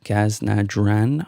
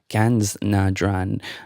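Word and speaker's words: Ganz nah dran: The song was called Gaz Na Dran, I believe. It's Ganz Na Dran, a German pronunciation, excuse me for that terrible Irish attempt at it.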